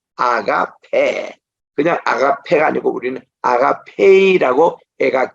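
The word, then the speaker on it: ἀγάπη: 그리고 에타 지금은 아가페 그냥 아가페가 아니고 우리는 아가페이라고 애가 긴 발음으로 나오잖아요 그리고 레마 뭐 로고스하고 우리께서는 그냥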